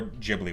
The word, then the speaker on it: Ghibli: like it's like I I would say gibli would be correct JBL would be correct or jibli would be correct and you know what pick whichever one feels supposed to be in